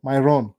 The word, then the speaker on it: Myron: By the way, mu pronounce vibaya saa zingine. Myron. Kama Byron. Myron.